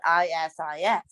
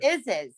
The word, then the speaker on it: Isis: He married a woman named, her name was spelled ISIS. Yeah. It's a popular female. She is an Egyptian goddess. We called her Isis. He goes, no, it's pronounced Isis.